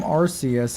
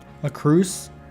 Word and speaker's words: Arceus: A Cruce? Not Arceus, it's a Cruce. Oh, am I pronouncing it incorrectly? I've always pronounced it Arceus. Is it not Arceus?